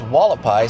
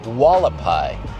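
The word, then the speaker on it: Hualapai: This is Walapai. See how it's spelled? H U A L A P A I. Walapai.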